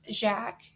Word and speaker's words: Jacques: name would be um jacob or jacob in german but in french it's jack so in the table